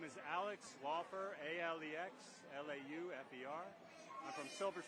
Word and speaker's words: Alex Laufer: My name is Alex Laufer, A-L-E-X, L-A-U-F-E-R.